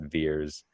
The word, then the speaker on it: Vers: And so VERS, they pronounce that Veers.